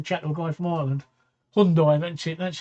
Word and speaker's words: Hyundai: a one or two number one hyundai number two hyundai which is how you pronounce it number one and